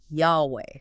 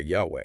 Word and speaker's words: Yahweh: And the pronunciation scholars often reconstruct as something like Yahweh. Okay, Yahweh.